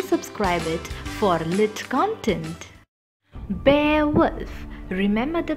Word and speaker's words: Beowulf: our channel do subscribe it for lit content bear wolf remember the pronunciation inside we imparted yes pebbles is today's